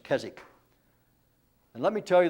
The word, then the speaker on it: Keswick: so difficult and so it's a silent w in english kezik and let me tell